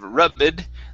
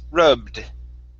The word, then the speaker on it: rubbed: okay very good here this ed ending is pronounced like a d so instead of rubid the word is rubbed rubbed okay very good